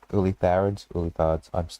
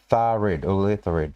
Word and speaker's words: Ulitharid: Okay, Ulithards. I'm having... Ulitharid.